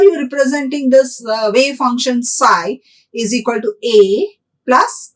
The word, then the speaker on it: psi: by the greek symbol psi this is a greek symbol p is silent here so we say it as psi psi is the greek